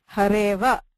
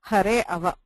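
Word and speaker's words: हरेऽव: But please note, this does not change the pronunciation. Hareva is the pronunciation. There is no hare ava. Right? So this is still hareva.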